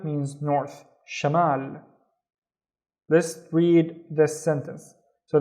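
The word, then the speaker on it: شمال: The first syllable is sha sha and the second syllable is this is the ma remember ma mal. Shamal and Shamal means north. Shamal.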